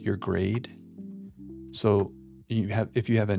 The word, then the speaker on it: Seuss: He intended it to rhyme with voice. So it was be it was supposed to sound like Dr. Soy.